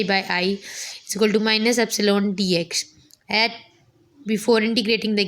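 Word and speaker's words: ε: by DX is equal to e i is pronounced as Epsilon where Epsilon is a constant proportionality and is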